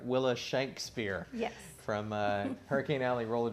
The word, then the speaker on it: Willa Shankspear: And we're going to get that pronunciation correct. Willa Shankspear.